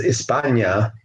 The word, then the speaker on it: España: Spain in the Latin is España with an H. The H is not pronounced España, so they call themselves Hispanos, coming from Spain.